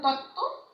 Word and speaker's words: তত্ত্ব: এরকম আরো আছে, দেখো তত্ত্ব, এই বটা কিন্তু উচ্চারণ হচ্ছে না।